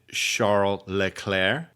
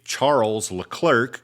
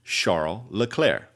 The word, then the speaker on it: Charles Leclerc: Now, you might say Charles Leclerc if you're from America, but I do want to respect his name because his name is pronounced thusly because he's from Monaco, Sharm El LeClaire and he's 25 years